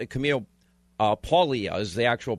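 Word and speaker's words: Paglia: introducing me to uh I've always said Camille pagle it's Camille uh paulia is the actual pronunciation of this and her life her background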